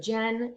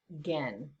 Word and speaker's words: Gen: things um first off the g is hard g it's for a while i was saying barefoot gen it's incorrect barefoot again okay keep in mind that